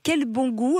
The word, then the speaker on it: Kelbongoo: Vous êtes fondatrice de Quel Bon Goût, alors ça s'écrit comme ça se prononce, des produits fermiers, des fruits et légumes.